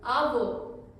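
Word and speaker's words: avó: spelling बहुत similar है तो आ वो का जो साउंड है ग्रैंडमदर का वो ज्यादा ओपन है ग्रैंडमदर ज्यादा बात करती है इसलिए ओपन साउंड है आवो ग्रैंडफादर कम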